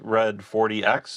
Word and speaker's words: XRED40X: Um, today we uh have with us the band X Red 40X. Am I Did I say that right? Pronounced red 40.